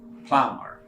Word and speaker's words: plumber: word makes you the ball it is not pronounced so it sounds like plumber then it is extra truck AB SATRA some